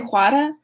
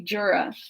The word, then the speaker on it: Jura: I discovered more distinctly the black sides of, I want to say Juara, but that would be that's like a Spanish pronunciation, so it must be Jura.